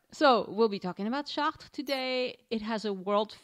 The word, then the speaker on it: Chartres: On today's show, we'll be talking about a city near Paris called Chartres, or Chartres. Chartres.